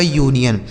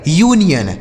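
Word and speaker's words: union: ये लिखा गया आपका यूनियन इसे अनियन नहीं पढ़ा जाएगा। यूनियन ठीक है?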